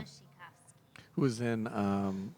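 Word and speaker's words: Wasikowska: Yeah, Polish name. It starts with a W, but it's pronounced Yeah. Vushikov.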